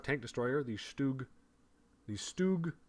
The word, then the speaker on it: StuG: 5 tank destroyer the stoog the stoog 4 i would say stug and i think that's technically the wrong pronunciation the stoog 4 there